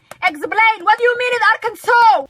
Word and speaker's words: Arkansas: saw some europeans pronouncing arkansas it is arkansas it's not arc kansas there's a vine about